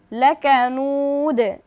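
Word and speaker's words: لكنود: উচ্চারণটা কিভাবে হবে? লাকানুদ, নুদ। ইন্নাল ইনসানা লিরাব্বিহি লাকানুদ ইন্নাল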